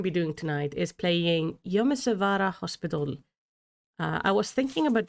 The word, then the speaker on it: Yonesawara: Oh, I did the name wrong. Thank you, Abe. Yonesawara.